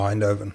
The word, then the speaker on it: Eindhoven: I don't know how to pronounce that. So is that Eindhoven or? Oh, Eindhoven.